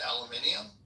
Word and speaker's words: aluminium: So, they they they read aluminum and they pronounce it aluminium. Yeah, it's a whole extra syllable, isn't it?